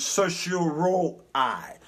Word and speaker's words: certiorari: called a writ of certiorari. Certiorari is the proper pronunciation of it, or what they call a writ of cert.